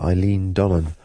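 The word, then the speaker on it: Eilean Donan: all the photographs uh Eileen Donan I think it's pronounced uh and then we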